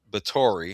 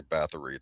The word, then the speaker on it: Báthory: But this is a vampire story inspired by the chilling, lesser-known legend of Elizabeth Báthory. I have to remember to say her name right. People always say Bathory. I think it's Báthory.